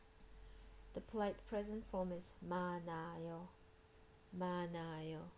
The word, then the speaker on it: 많아요: The polite present form is 많아요. 많아요. So H gets almost reduced. 많아요. 많아요. So if you want to say you have a lot of candy, you'd say 사탕이 많아요.